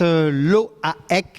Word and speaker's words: Loaec: Fabrice Loaek, hein, on prononce bien comme ça? C'est ça, breton, mais fier de l'être.